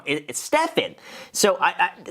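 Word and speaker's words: Graham Stephan: they don't call me Graham Stevens it's like why why do you mispronounced my last name wrong it Stefan so I I like there's no s at the end of that Graham Stevens gr Sten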